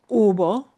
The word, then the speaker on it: hubo: It is hubo. It sounds like U-B-O, but the H, of course, is not pronounced. Hubo.